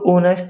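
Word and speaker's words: honest: option B एन क्योंकि जो ऑनेस्ट है वो ओ से शुरू होता है जो उसकी धवनी है वो ओ से शुरू होती है एच इसमें साइलेंट रहता है तो इसलिए जो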